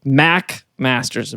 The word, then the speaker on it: McMasters: uh no no no it's how you pronounce an MC oh so the ma doesn't matter doesn't matter at all that's always Mac okay have you heard of